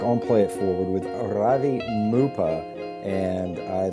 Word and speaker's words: Ravi Muppa: to starting sure um my name is Ravi mupa um you got the pronunciation almost right um I am a